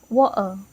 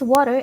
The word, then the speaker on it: water: native British accent, where the t is often not fully pronounced. So instead of saying water, it becomes water. This change isn't a mistake, it's a natural part of how some native speakers speak in casual or regional varieties of English.